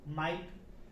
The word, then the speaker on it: might: उसी तरह दूसरा एग्जांपल देखेंगे, राइट, यहाँ पर भी जो है GH साइलेंट है क्योंकि इसको राइट पढ़ेंगे। और एग्जांपल देखते हैं, MIGHT, इसको क्या पढ़ेंगे? माइट।